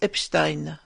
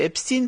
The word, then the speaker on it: Epstein: Alors il y a deux camps, ceux qui prononcent Epstein et ceux qui prononcent Epstein.